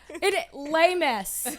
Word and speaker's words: Les Miss: Les Miss. Yes, the S is silent.